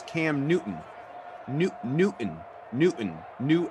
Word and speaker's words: Newton: this C they say Newton no they dro the te all together they insist that the T yeah they insist that the te is not part of the pronunciation of the name okay can you know